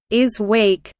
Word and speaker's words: ISWC: The International Symposium on Wearable Computers, or ISWC, pronounced "is week," is one of the most prominent academic conferences on wearable computing and ubiquitous computing.